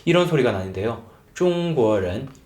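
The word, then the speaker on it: 中: 쫑구 쫑구 하긴 하는데요 근데 북방 쪽에서는 사실 중국이란 나라는 표준어 발음을 아나운서들의 표준어 발음은 방 쪽을 기준으로 설정을 하고 있거든요 그래서 표준어 발음은 중 완전히 우 발음은 아니에요 우의 입모양에서 입 안에 소리는 오 소리가 나는 겁니다 그래서 쫑 쫑 쫑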